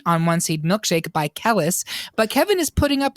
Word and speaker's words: Kelis: of the name again you sure did it's it's kalists Khaleesi you know what that's so much easier for me it's Kelis beg pardon I'm sorry